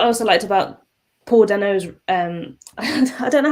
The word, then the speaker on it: Dano: But what I also liked about Paul Dano's, I don't know how to pronounce his last name.